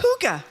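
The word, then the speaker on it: hygge: It is pronounced Yeah, it is pronounced huga. No, huga. No, hugah.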